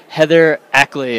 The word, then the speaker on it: Heather Ackley: We are here with Heather Ackley, right? Yep. I pronounced it correctly. Yes. And her, what is this? Just Heather Ackley, yep.